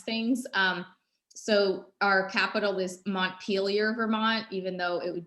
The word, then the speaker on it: Montpelier: and properly pronounce them which is not the way that the french would have pronounced them but anyhow it's just